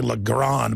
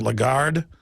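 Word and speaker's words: Lagarde: from the taxes uh how do you pronounce her name I always say lron but it's a legard the point is is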